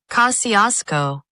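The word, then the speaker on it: Kosciusko: Kosciuszko. That's it actually properly spelled out. That's pretty good. Went with the Polish pronunciation of it there. So that's right.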